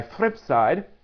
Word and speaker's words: fripSide: that um and be a theme song by fripside I did not mispronounce that fripside it is celebrating the 22nd